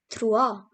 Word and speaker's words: trois: Now comes 3, which is called as trois. And here we have 4, which is pronounced as quatre.